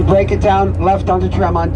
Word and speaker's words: Tremont: And if you break it down left onto Tremont, 2 syllables, TRE means 3 and MONT means hills in Latin.